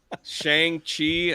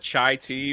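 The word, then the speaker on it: Shang-Chi: I always call her that I uh I butchered uh Shang chi I called it chai tea by accident and like I've never went back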